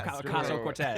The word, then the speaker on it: Ocasio-Cortez: And Alexandria, how do you pronounce her name? Yeah. Cortez, Yes, Ocasio-Cortez.